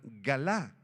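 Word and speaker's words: גלה: Esta palabrita revelación, apúntenla, es la palabra hebrea galá, galá con acento en la segunda A, que significa descubrir o revelar.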